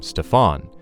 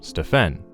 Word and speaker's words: Stephen: says Del, when one of the Nike executives pronounced his son's name Stefan instead of the correct name Stephen.